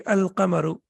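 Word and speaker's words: القمر: pronunciation will be ashamsu and here the lamb is pronounced and the correct pronunciation will be alamaru.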